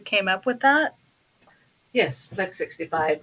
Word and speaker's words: Phlex65: Yes, Plex 65 is spelled with a PH, so PHLEX 65, because a lot of